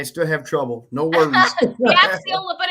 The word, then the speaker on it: Gaxiola: Please welcome Gaxolia. Did I say it right? No, you got it close. You got most of the letters in there. Gaxiola.